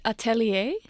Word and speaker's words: Atelier: don't really know because it's a French word oh it's French it's Atelier oh my God actually